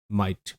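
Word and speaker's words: might: জি এইচ এখানে silent. ওকে? শব্দগুলো দেখে নেই। বেসিক শব্দ প্রথমে দেখবো। তারপর আমরা এর থেকেও বড় বড় শব্দগুলো দেখার চেষ্টা করব। So fast M আই জি এইচটি মাইট দেখো এম এর সাউন্ড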